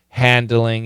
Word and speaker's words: handling: Neighbors are handling it like... And this D is really weak. Very weak D. Handling it. Yeah, I agree. Handling it. Handling. But that N kills the D.